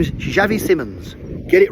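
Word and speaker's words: Xavi Simons: All the people keep saying it weirdly and Si Simons and Simons and his name is Javi Simmons.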